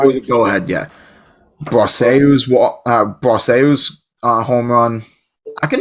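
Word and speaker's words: Brosseau: Well, Baseball Reference has the pronunciation, and it says Brahso. Broseu.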